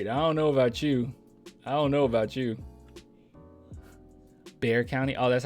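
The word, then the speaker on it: Bexar: don't know about you Bear County oh that's how you say it Bear County okay it's pronounced bear what'd I say Behar yeah bear okay okay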